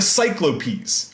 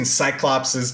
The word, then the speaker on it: cyclopes: of triplets are the cyclopes right so i'm not like mispronouncing cyclopses just in greek like the plural of cyclops ends up being cyclopes so there you go